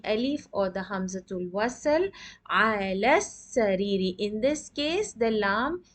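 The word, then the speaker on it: على السرير: Ala sariri. In this case, the lam is not pronounced.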